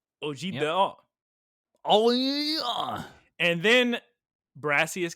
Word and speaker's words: objet d'art: How do you pronounce that word? Objet d'art. Objet d'art.